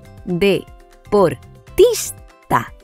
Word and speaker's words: deportista: La sílaba tónica en esta palabra es tis, ya que suena más fuerte que las demás.